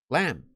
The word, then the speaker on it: lamb: Just like thumb, even though it has a B at the end, we don't call them lamb. We just call them.